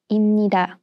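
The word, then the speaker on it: 입니다: e and becomes inida note that piup is replaced with mium while pronouncing imnida according to the simulation rules we will learn about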